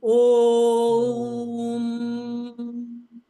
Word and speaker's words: ओम: तो थोड़े करते हैं वो नहीं है ओम, इसका मतलब है मौ का उच्चारण लंबा होना चाहिए।